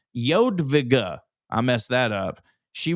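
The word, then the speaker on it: Jadwiga: Uh PS, it's pronounced Yodvigga.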